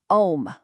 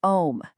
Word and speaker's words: Om: The A sound vibrates down in your abdomen, the U moves up into the chest, and that humming M sound resonates in your head.